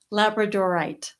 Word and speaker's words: labradorite: labrador dog Stone and now we're both not pronouncing it right labradorite labradorite there you go it's very